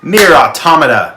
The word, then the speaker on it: Nier Automata: Nier Automata, which is a correct pronunciation of that word.